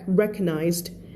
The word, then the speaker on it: recognized: would be fun น้องนุ้ยขอบคุณค่ะ recognized ไม่อ่าน re ด้วยนะ recognized สนามบินเจอคำว่าเกตบ่อยเลยครับใช่ประตูเกตแน่นอนใช่ไหมเปิดเข้าเปิดออก It was Captain Egon Stroop.He was a monster, the cruelest Nazi in Le Roc, for sure.